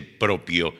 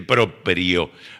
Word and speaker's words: proprio: No, es latín, no se dice propio, se dice proprio.